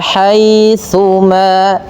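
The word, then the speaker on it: حَيْثُمَا: Nah, hati-hati dalam melafalkan tsa jangan sampai terbaca dengan huruf sin ya. Dia agar sempurna daripada makhraj huruf tsa ujung lidah kita kita tempelkan dengan gigi atas ya. Wa haitsuma wa haitsuma kuntum fawalluu wujuhakum satrahu liuna linnas.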